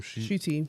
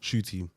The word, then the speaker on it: Ncuti: Ncuti. Shooty.